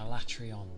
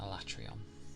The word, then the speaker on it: Alatreon: my my my brain travels between fights I atrion that's how you say it yeah yeah yeah alatreon yeah yeah the two big dragons I